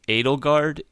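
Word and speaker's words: Edelgard: you know just because the close relation of NATO guard and Dimitri so yeah that's it's that's interesting it's pronounced Adel guard in yes in the English version cuz I've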